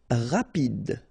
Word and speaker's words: rapide: Rapide. So same thing for final E. Don't insist on it. Just pronounce this D.